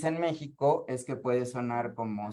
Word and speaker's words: México: Porque dicen, es el, porque esto sería México, ¿sí? Pero nosotros la X la pronunciamos Xochimilco, es con X. México suena como J, o sea, Xochimilco suena como a Z. Meji suena como a J, ¿ok?